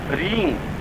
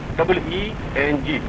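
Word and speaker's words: ह्रीं: दूसरा बीज है रींग, जो पुराण में आया हुआ है। ह और र मिलकर के, और बड़ी मात्रा और ऊपर बिंदी, रींग। उच्चारण होगा WRING, रींग, या बिल्कुल शुद्ध उच्चारण होगा WREENG, रींग। रिंग नहीं, आप उच्चारण कर लेते हैं गलती, रिंग बोल देते हैं, रिंग। रिंग शब्द नहीं है, रींग शब्द है, दीर्घ है, लघु नहीं।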